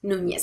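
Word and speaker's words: Núñez: We want to type the last name Nunez. It's pronounced Nunez in Spanish.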